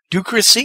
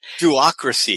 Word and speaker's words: Duocracy: You call it ducracy. Is that what I pronounce call it? Duocracy. Duocracy. Okay, I need another O in there, I think.